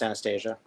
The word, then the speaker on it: Anastasia: Yeah, normally pronounced Anastasia.